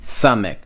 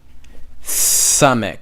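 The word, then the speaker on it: סמך: Samech. Samech. Just like how you're saying see, saw, sip.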